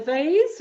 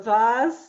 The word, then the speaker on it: vase: see in this image do you see a vase or a vaz some people pronounce it differently do you see two